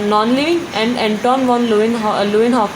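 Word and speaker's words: Antonie van Leeuwenhoek: Means एंटोन वॉन लुइनहॉक जो scientist हैं, आप एक बार प्रोनाउंसिएशन ध्यान से सुन लीजिए.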